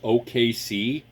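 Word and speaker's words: Okaysea: want the the brand name on it is OKC it's spelled o-k-a-y-s-e-a um quad core quad core processor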